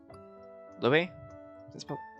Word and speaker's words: Louis: Louis? Hold on. Alright, how do I pronounce this? Louise. Yeah, it's Louise. Because not an S though. It's just Louis.